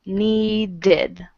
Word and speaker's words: needed: need is want okay the Ed ending is ID and it makes another syllable need becomes needed just a second hello